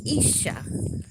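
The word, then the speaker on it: אישה: connected to that Hebrew word Isa it is pronounced Isa and that is wife or woman in Hebrew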